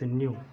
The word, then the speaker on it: nu: How to pronounce this symbol here? That is nu.